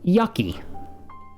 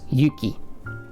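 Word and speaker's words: ゆき: So before our example of snow, yuki, this is never going to be pronounced yucky. Of course. Always yuki.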